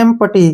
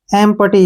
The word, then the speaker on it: empty: Next word है EMPTY, ठीक है ना, ध्यान रखने हैं कभी भी ई के बाद MI या फिर NI तो ई का उच्चारण ए के रूप में करना है। EMPTY, ई से हो गया ए और एम से हो गया मैं और पी से हो गया पे और टी का उच्चारण टे के रूप में हो गया और वाई से ई बन गया।